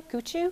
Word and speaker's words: Coutu: That's the way you say my name, by the way, Coutu, because that's what he said.